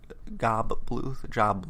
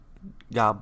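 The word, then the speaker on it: Gob: And we meet his family, who is Job Bluth, however you want to pronounce it. It's pronounced different ways in the series.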